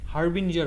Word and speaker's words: harbinger: The red bottle of Ruafza comes as harbinger, হারবিঙ্গার harbinger, oh, harbinger of Ramadan. আমার উচ্চারণটা একটু ভিন্ন হবে, Harbinger. হারবিঞ্জার হবে এটা প্রোনাউন্সিয়েশনটা। Harbinger, oh.